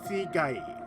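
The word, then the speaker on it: 死骸: Oh, yeah, by the way, it's pronounced Sigai for corpse. Saikai for reunion.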